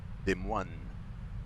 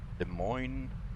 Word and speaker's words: Des Moines: Des Moines. Des Moines. It's like monks.